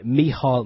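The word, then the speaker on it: Micheál: Martin sorry me Martin have to give it give him his prop proper Irish pronunciation h miall Martin yeah he's he actually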